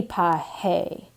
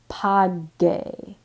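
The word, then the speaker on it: pague: We don't want this to be pahe. We want it to be page. So we want to have that hard G sound.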